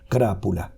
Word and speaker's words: crápula: cry para le viene la palabra latina crápula que en castellano se dice igual krápula no aquí se traduce